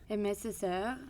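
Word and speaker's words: Aimé Césaire: And again, I'm not sure if I'm going to pronounce this right, but Amié Césaire? Amié Césaire.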